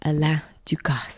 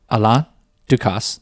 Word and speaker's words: Alain Ducasse: Alain Ducasse. Oh, is that how you say his name? Well, yeah. So, Alain Ducasse. In the French way, but I think in America we say Alain, right?